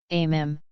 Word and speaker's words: meme: Riden how about full of is that a MIM an exchange from Metal Gear Rising Revenge ANS which has itself become a MIM sociology notwithstanding on the internet amm rhymes with cream is usually described as